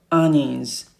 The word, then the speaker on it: onions: potatoes onions pay attention to this letter O pronounce the a it's like bus a so onions lettuce cabbage eggplants This Is Us obber jeans